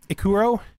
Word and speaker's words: Ikkuro: am playing akuru Kuro I think akuro is a better pronunciation of that ik Kuro um ikuro but we're playing militarist